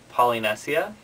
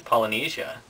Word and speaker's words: Polynesia: it out loud and I was pronouncing the bird's name poly nessia and everybody was like staring at me but they nobody said anything until I finished and then she told me that it's Polynesia and I said well